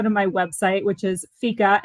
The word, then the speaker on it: fika: can always go to my website which is FICA f i k a some people say FICA but it's pronounced FICA which is a Swedish I apologize that's okay